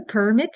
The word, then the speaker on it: permit: Permit. Do you have a permit to drive?